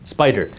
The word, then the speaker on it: SPDR: By the way, Spider is SPDR, pronounced Spyder.